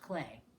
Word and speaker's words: Klee: So this is about the artist Paul Klee. And that's a receipt. Paul Klee, pronounced Clay, was born near Bern, Switzerland in 1879.